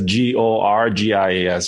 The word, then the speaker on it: Gorgias: And Gorgias, by the way, is spelled as Gorgias, just because some people think it's like gorgeous, like, looking fabulous.